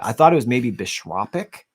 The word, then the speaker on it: bishopric: Yeah, it was all of these different bishoprics, which I literally Googled the pronunciation of before the stream, because I thought